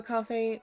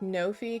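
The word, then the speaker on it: Ko-fi: all being here also coffee will say it rhymes with no fee because they take no fee but everyone says Coffee okay I read it as cofi when I saw it like that's how my brain processed it but then they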